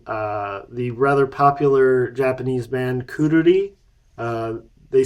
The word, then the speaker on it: Quruli: I guess I should say it features Kishida Shigeru from the rather popular Japanese band Kururi. They spell it in English Quruli.